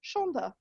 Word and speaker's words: Sandhya: to my ancestry by insisting that s-a-n-d-h-y-a is actually pronounced shonda that's a little bit